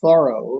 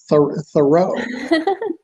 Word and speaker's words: Thoreau: don't know but so his name is pronounced thorough like i had i did a thorough job or i am thoroughly exhausted but so most people